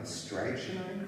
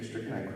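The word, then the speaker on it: strychnine: at first because I don't know how to pronounce this. Um, strainite crystals. Stricken, thank you. Strickenine crystals had warmed our bellies and liquid life had dripped from our tongues.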